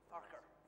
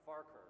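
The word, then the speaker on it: Farquhar: sort of missionary named JN far is how it's spelled I think farker farker right I was corrected in Ed farker right so farker collects this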